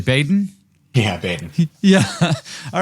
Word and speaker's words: Baden: Am I pronouncing that correctly? Baden? Yeah, Baden.